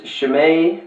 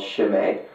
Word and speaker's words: Chimay: a Trappist beer um I was calling it Chim um obviously but if you uh yeah if you pronounce it correctly it's called shim um yeah just to give